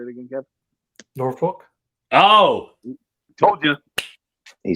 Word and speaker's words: Norfolk: Trey always pronounced the L very Norfolk. I can't even say it. It's like no fuck. It's like no fuck. No fuck. Yeah, the L's no, it's not, Tyler. Norfolk. It's Norfolk State.